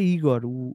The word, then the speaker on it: Igor: E eu disse-lhe, José, o meu nome é Igor, a sílaba tónica é no I.